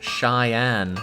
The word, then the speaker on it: Cheyenne: Stock Nasty pointing out to me that Cheyenne is pronounced Cheyenne.